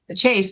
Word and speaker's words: Chaze: yes okay so uh Chase but it's Chase but it's spelled CH h a z correct okay oh very